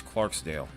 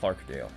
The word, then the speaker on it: Clarksdale: The best rotation is over towards Clarksdale. Or Clarkdale. Yeah, no, it was Clarksdale. I said it right the first time.